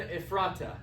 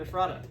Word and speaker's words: Ephrata: it says but thou Bethlehem Ephrata and he adds an a right here so instead of ephrat it's spelled like if frata but thou Bethlehem though